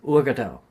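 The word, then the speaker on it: Uagadou: Oh, how do you pronounce it again? Urgadao.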